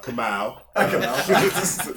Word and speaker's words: Kamau: appreciate all your attention pronunciation come out start there come come as a